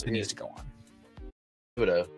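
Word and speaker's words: Thibodeaux: Thibodeau, or is that how you say it? Yeah, Thibodeau.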